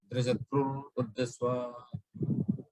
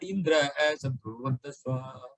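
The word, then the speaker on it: इन्द्रशत्रुर्वर्धस्व: You should have asked like that, without making any pause in between Indra and Satru. Indra Satrur Vadaswa. On the other hand, he said Indra as Satrur Vadaswa.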